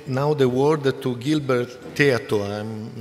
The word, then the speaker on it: Théato: thank you Mr chairman and the pronunciation was correct like that my name is silberto